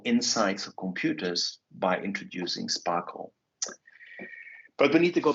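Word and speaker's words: SPARQL: In our case, it's called Sparkle, pronounced Sparkle, like I just did.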